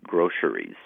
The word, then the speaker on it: groceries: or three syllables and you can pronounce it with an s in the middle or a sh like an sh sound in the middle now most language authorities